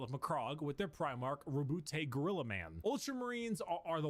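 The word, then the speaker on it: Roboute: Primarch, Rabute Rabute, okay.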